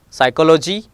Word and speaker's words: psychology: P is usually silent in the letter combination PS, PT, PN. Just like a psychology, P is silent over here.